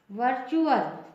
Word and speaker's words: virtual: For example VIRTUAL, टी के बाद UAL आया है, इसका प्रोनाउंसिएशन होगा वर्चुअल, च हो जाएगा, वर्चुअल।